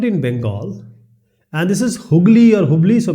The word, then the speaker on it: Hooghly: It started in Bengal, and this is Hooghly or Hubli. So basically it's called Hooghly, sometimes pronounced as Hubli.